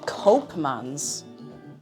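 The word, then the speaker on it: Koopmans: Oh, he's pronounced Cubman's a cope. Copeman's.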